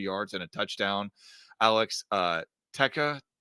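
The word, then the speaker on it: Tecza: Alex Texa, how do you say that? I think it's Teska.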